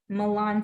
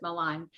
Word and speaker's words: Malan: Her name is Brandi, and she's actually going to talk to us about Malan syndrome.